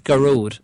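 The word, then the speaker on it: Gearóid: a r y but the Irish for that is garod so it's pronounced G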